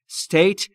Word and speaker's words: state: ایالت یا شهر نیویورک استیت ایالت دقت بکنید تلفظ استیت استیت نیست اولش ا نداره استیت یعنی دولت ایالت